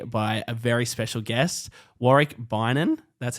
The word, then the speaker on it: Warick Beynon: joined here today by a very special guest wari ban that's how you say that's the correct pronunciation um former scooter rider pro scooter rider